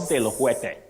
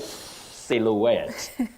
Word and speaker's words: silhouette: show yes a l Sil not silou silou no you say silhouette then we have Paris